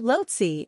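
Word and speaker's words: Lhotse: 10 highest mountains in the world lotsi is pronounced lotsi and means South Peak in the Tibetan tongue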